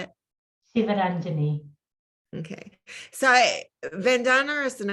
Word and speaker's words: Sivaranjini: Sivaranjini.